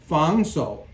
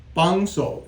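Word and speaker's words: 防手: Now, really, I believe this is not the correct way to say this, because this is a fangso. But you will usually, in English, people, because of the Cantonese influence, they will talk about it as bangso.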